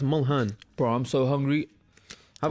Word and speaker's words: Mulhern: Man said Mullen. I swear it's Mulhern.